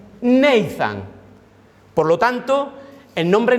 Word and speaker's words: Nathan: Y cuando tú lo fonéticamente pronuncias Natán en inglés, se pronuncia Nathan.